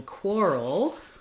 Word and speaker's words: quarrel: the L Sound in quarrel like in the word world so in world world we kind of have a Ura Ura we kind of put a little bit of a schwa sound in there like were Old World